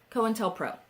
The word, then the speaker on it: COINTELPRO: COINTELPRO.